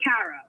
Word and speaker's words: Kara: subbing um you could you were calling me cara which is right um it's not kara